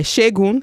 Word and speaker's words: Segun: By Shegun. So Shegun is spelled SEGUN and last name is Johnson.